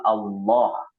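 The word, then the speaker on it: الله: Kalau fathah atau dhammah, maka itu dibaca tebal ya, seperti Allah. Allah. Beda dengan lillah. Lillah itu dibacanya tipis. Kenapa? Sebelumnya ada kasroh.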